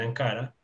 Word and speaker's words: Ankara: vamos por ejemplo tenemos en la ciudad de ankara shelton ankara el turco decimales ankara en español encara un poquito solamente la pronunciación entonces ankara ankara de entonces ankara entonces